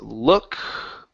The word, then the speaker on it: look: it is okay so right here instead of l l okay open the mouth LL look look okay almost so it's halfway between an uh and an O it's uh L look look yes